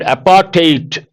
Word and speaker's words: apartheid: And apartheid, you got to be careful with pronunciation, not a der sound, it is a ter sound.